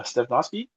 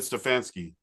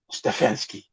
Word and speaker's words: Stefanski: Uh Stephski and then like Kevin Stefansky. Stefanski.